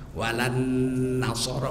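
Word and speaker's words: ولا النصارى: Walan nasara, bacanya begitu, bacanya, tulisnya enggak.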